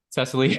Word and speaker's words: Cesilee: coaching certification from The strozi Institute am I pronouncing that right Cecily yes yeah he did it awesome well welcome